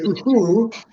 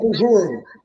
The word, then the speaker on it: Uhuru: I believe it's pronounced Uhuru.